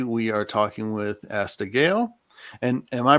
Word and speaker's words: Geil: press and today we are talking with asta gayle and am i pronouncing that correctly uh it's scale gail yeah okay fantastic sorry i i'm i'm gonna